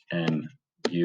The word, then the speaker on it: mu: fair dice and that we can call mu so that's m u if you want to